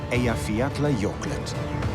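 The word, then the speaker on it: Eyjafjallajökull: a volcano with a hard to pronounce and even harder to spell name that in 2010 reminded everyone that mother nature is truly the boss it's called a yafiatla yorkland today most of the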